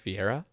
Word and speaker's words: Fiera: Is it pronounced Fiera? yeah, that's me.